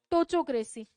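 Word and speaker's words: ptochocracy: Next word होती है टोचोक्रेसी। क्या होती है? पी साइलेंट रहता है, इसको क्या बोलते हैं? टोचोक्रेसी।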